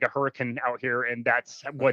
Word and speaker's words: Hurricane: And the city that you're referring to, which we also stayed in, is actually, as weird as it sounds, it's pronounced Hurricane.